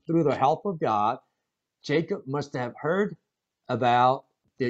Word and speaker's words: Jacob: 자, Isaac and to Jacob as well. 자, 여기서 발음 한번 잘 해볼까요?